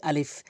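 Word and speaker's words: ا: দেখুন এখানে প্রথম হরফ হচ্ছে আলিফ। আলিফ উচ্চারণ করতে গেলে উপরের দাঁতগুলো নিচের ঠোঁটের উপরে রেখে এভাবে উচ্চারণ করতে হয়। আলিফ আলিফ আলিফ।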